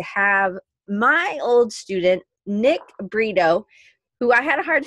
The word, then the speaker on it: Brito: many years, but it's kind of like burrito, but it's not spelled like that. B-R-I-T-O, but it does sound like that.